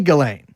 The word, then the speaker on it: Ghislaine: Just from off the top here, so we say Ghislaine, right? Because that's how it's pronounced.